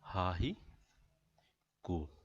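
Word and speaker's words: haiku: और हाइकू को प्रोनाउंस कैसे किया जाता है? हा ही कू.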